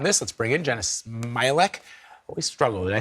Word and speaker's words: Smialek: So for more on this, let's bring in Jeanna Smialek.